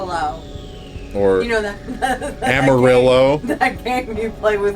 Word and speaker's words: Amarillo: or you know that Amarillo that game you play with horses or Amarillo like that terrible country song it's amario it's yellow I'm going to blow